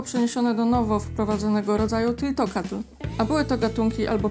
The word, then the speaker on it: Tliltocatl: Na szczęście okazuje się, że to pierwsze L jest nieme, więc po prostu pomijamy je w wymowie. W takim razie wymawiamy to słowo jako tiltokatl.